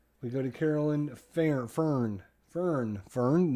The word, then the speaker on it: Fern: Fern, not Fern. Fern, F-E-R-N, Fern.